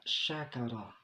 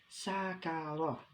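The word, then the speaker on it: شكر: Salah satu contoh, ketika kita menyebutkan kata syakara, shin, kaf, ra. Ya. Ketika kita mengucapkan kata syakara, maka itu artinya adalah bersyukur anak-anak. Namun, ketika kita mengucapkannya dengan kata sakara, sin, kaf, ra, maka itu artinya adalah menjadi mabuk anak-anak.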